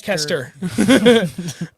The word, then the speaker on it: Leicester: They're down in Leicester, Mass, which does not spell like the way it's pronounced. Leicester.